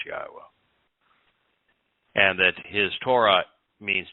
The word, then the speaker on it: Yahowah: and only one name and that it is pronounced yahwah and that his Torah means teaching and guidance